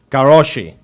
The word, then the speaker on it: Karosi: Now, I got their names here, and I'm going to pronounce them correctly. Noemi Shalai, okay, and Balint Garoshi.